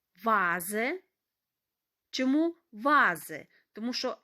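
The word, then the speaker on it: Vase: як звук ф але Інколи буває що ми маємо слова іншомовного походження тут Дана літера буде читати як звук в вази чому вази тому що с між голосними читається як звук з вази вікто Віра маємо імена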